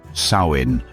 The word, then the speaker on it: Samhain: The ancient Celts celebrated a festival called Samhain, pronounced Samhain, marking the end of the harvest and the beginning of winter, the season of death.